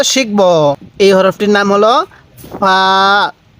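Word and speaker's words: فاء: হরফটির নাম কি হ্যাঁ এই হরফটির নাম হলো ফা মুখে মুখে বলুন ফা ফা হালকা বাতাস বের করবেন এরপরে বলবেন এই হরফটির উচ্চারণ কিভাবে পড়তে হবে হ্যাঁ কফ এরপরে এই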